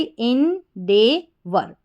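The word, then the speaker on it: endeavour: EN इन, DEA डे, इस तरीके से ए करके पढ़ा EA को, तो ये डे बन गया।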